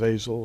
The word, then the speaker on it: Azazel: one of them is called Azazel sometimes pronounced a soul or different pronunciations but but he seems